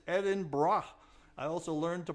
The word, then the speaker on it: Edinburgh: It is Edinburgh, not Edinburgh, not Eden something or other. It's Edinburgh.